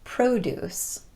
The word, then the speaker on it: produce: exceptions first of all the d-u-c-e word ending is never pronounced as juice even when that syllable is not stressed as in the noun form of this word which is pronounced produce for example farmers sell